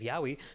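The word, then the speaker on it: yaoi: But when it comes to more adult content, Yahwi is very much at the forefront of Yahwi is how you say specifically for women.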